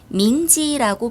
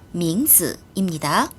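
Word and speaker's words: 名字: 한영음 Mzi는 이름이란 뜻이며 밍지라고 발음합니다. 정답은 5 아니면 X. 네. 정답은 X입니다. 츠츠스 츠르 뒤에 오는 알파벳 I는으로 발음을 합니다. 따라서 Mzi는 밍즈라고 발음을 합니다. 밍지 아니에요. 밍즈입니다.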